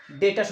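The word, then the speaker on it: debtor: उस कस्टमर को बोलेंगे डेटर, उसको बोलते हैं डेप्टर्स बोलते हैं, और उसको बी साइलेंट रखते हैं इसलिए उसको डेटर्स बोलते हैं।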